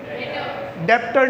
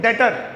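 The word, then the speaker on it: debtor: डेप्टर नहीं, क्या बोलेंगे? डेटर। क्या बोलेंगे? डेटर। बी साइलेंट है और टी 2 बार सुनाना चाहिए।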